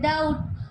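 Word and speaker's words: doubt: Second में देखते हैं डाउट, तो उसमें बी साइलेंट है।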